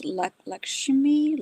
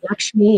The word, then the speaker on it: Lakshmi: I the word I'm not sure how to pronounce lakshimi like something like that lakshmi.